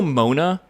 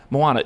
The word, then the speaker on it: Moana: Do you guys know Mona?